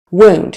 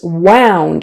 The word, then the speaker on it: wound: my eye not really who knows wound he had a small wound on his finger versus wound is the verb so change in vowel wound ow I wound the string into a ball that's the past tense